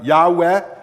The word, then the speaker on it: Yahweh: Those are the Yahweh is often how that's pronounced.